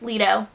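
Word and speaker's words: Leto: my mom lito uh or let out I think it's pronounced Lido it's l-e-t-o and he's like man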